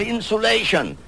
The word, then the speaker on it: insulation: I pronounce that insulation to distinguish it from insolation, a point I made once before on a program, insolation, incoming solar radiation.